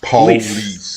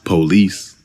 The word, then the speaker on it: police: this word is pronounced Police. In AAVE, it's pronounced. Police. Actually, the man in the recording stresses the second syllable, but it's often stressed on the first syllable.